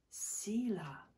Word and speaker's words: Selah: It's spelt S-E-L-A-H and pronounced in Hebrew, I think, Selah.